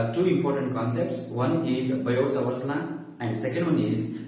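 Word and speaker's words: Biot–Savart: you, that is Biot-Savart's law, and it is pronounced as Biot-Savart's law. Okay, so here he is silent. So we pronounce it as Biot-Savart's law.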